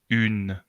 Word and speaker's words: une: Y si consigues hacer U, entonces puedes pronunciar une, une, une, no no, une. Y con la boca en U, une.